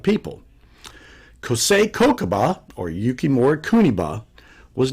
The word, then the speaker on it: Kuniba: Anyway, the kanji characters for Kosei Kokuba are Okinawan, and that's the Okinawan way of pronouncing it, but in Japanese it's pronounced Yukimori Kuniba.